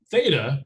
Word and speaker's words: theta: notice here is that theta if you don't know what i'm saying you pronounce this as theta which theta is a